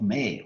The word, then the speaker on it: mare: named Maria, plural of mare, which is produced Yeah, it's British Turkey, so it's not May, that's English pronunciation, so Latin pronunciation is Mare.